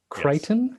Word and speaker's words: Crichton: Crichton? Yes. Is that acceptable? I've corrected for you? Your pronunciation a couple of times, yes.